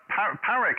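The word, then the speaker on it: Páraic: Okay, Parek, how do I say your name? Yes, it's Porrick, Papa Alpha Romeo, Alpha India Charlie, the paw of a dog and a rickshaw. That's the pronunciation guide.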